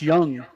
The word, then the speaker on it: Jung: They just got their Josh Young, although it's spelled Josh Jung, back.